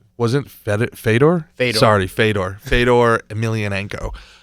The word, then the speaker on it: Fedor: so much Prestige there was a guy named feder Emiliano who everybody really considers to be the great what was his name was it fed Fedor Fedor sorry Fedor Fedor emilianenko great pronunciation on